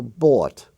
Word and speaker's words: bought: ought and caught actually it's the same as the or sound but it's spelled in an archaic form for example bought I bought some bread b-o-u-g-h-t now